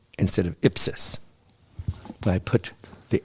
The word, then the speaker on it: ipsis: I had to retake my Mass exam because I said ipsis instead of ipsis. Because the accent is never on the last syllable in Latin.